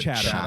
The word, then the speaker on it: Chatham: Stealing South Coast Valor having a Chatham, although I assume you pronounce it Chatham. It is Chatham.